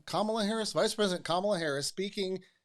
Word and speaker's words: Kamala Harris: I want to pronounce that correctly. That's right, Kamala Harris, Vice President Kamala Harris, speaking at a 50th anniversary of Roe v.